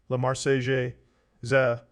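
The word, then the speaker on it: La Marseillaise: the Enlightenment and the Republic Lamar sales French pronunciation La Marseille za became the National Anthem of France the song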